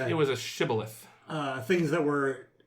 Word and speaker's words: shibboleth: you would pronounce it shibboleth, but if you were from the other team, the other faction, you would pronounce it Sibboleth.